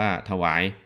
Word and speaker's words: ถวาย: ถวาย ความ เคารพ หรือ ถวาย คำ นับ นะ ครับ ถ หวาย เขียน อย่าง นี้ นะ ถ อะ ถะ ออก เสียง อะ นิด หน่อย แต่ ไม่ ปรากฏ เสียง อะ นะ ครับ หอ นำ